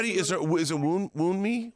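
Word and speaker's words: Wunmi: Yes, How do you, is it wound me? How do you pronounce? wound, like a wound and wound knee.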